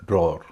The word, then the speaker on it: drawer: इसका उच्चारण न तो ड्रावर है न ड्रॉअर है, इसका उच्चारण है ड्रॉअर। यानी इसमें न तो व का उच्चारण होगा न अ का उच्चारण होगा, ड्रॉअर।